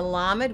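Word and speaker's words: למד: Then we're going to come over here, and remember the dashes under a word or lines under a word are going to say ah. So we're going to have la med.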